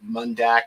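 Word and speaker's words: Mondaq: came to my attention from an organization called mundak m-o-n-d-a-q the authors were brendan reeves read read and eric i hope i pronounced this correctly eekoff e-e-k-h-o-f and they originally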